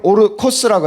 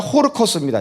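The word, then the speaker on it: ὅρκος: 아까 맹세를 오르코스라고 했죠. 오르코스라고 합니다. 예. 아니, 오르가 아니라 호르코스입니다. 제가 발음을 잘못했네요. 호르코스. 이게 호자입니다.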